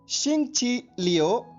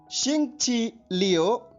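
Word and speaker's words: 星期六: Spelling note कीजिए, XINGQILIU। एक बार फिर सुनिए, XINGQILIU। ध्वनिवादन सुनिए, शिंगची लियो, शिंगची लियो, शिंगची लियो।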